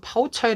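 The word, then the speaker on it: 泡菜: 그 이유는 바로 애초에 김치가 중국에서는 파우 차이 라고 발음 되기 때문이죠 즉 김치라는 한자 를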